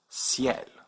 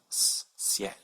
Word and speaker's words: ciel: And so this word is pronounced ciel with a soft C, ciel.